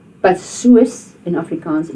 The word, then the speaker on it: soos: So remember, the soos is not soos. You don't pronounce that a double O as a oo. You pronounce it as a oor.